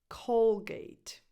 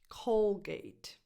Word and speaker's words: Colgate: of the way we can start number one Colgate Colgate so if you're speaking with non Italian speakers don't don't say k cuz you might confuse people the English pronunciation is Colgate number two Palm Olive this is made up